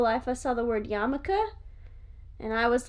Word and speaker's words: yarmulke: i went a step further i went yarmulkel like urkel and you even so you you not only pronounce the word wrong but you also flipped two of the letters in it i didn't pronounce it wrong because after the second time i saw it i realized it was the word yamaka and i had just never seen it written before but the first